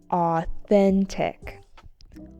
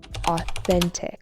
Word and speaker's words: authentic: Authentic. Authentic with an emphasis on the second syllable.